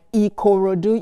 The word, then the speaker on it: Ikorodu: Yeah, I know that earlier you pronounced Ikorodu quite, quite clearly, like Ikorodu. You gave it the enunciation, the exact way that it should be.